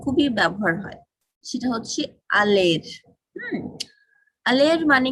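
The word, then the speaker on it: aller: উচ্চারণটা খেয়াল করবেন, আলের। হ্যাঁ, আর এর উচ্চারণটা হবে না, শুধু এই সামনের অংশটুকু।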